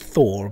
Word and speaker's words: thaw: the Thor tank so you can pronounce it t h a w it's Thor but we're all calling